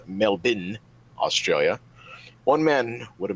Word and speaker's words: Melbourne: mall in Melbourne or as my Australian friends tell me it is pronounced melbin Australia one man would